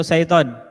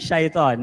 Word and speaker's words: seiton: Yang kedua, set in order atau seiton. Siapa yang merasa seiton? Seiton, bukan syaiton ya.